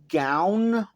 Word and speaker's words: Gown: I know most people say his name Gown, but I say Gon.